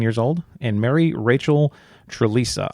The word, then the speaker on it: Trlica: old and Mary Rachel Trlica. I'm going to need your help with this last name Trlica. Trlica? It's spelled t r l i c a. Okay, Trlica. But it's Trlica.